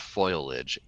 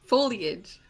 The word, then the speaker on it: foliage: um roots that and a whole lot of foilage excuse I love how you call it foil